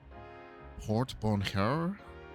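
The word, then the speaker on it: porte-bonheur: A real Port Bonheur? A lucky charm? How do you pronounce that?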